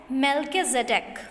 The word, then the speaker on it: Melchizedek: Okay, so then he remembered इसका जो pronunciation है वो है मेल्किज़ेडेक।